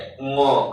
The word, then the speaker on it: ङ: इसे अंग नहीं कहेंगे, ङ कहेंगे, ठीक है?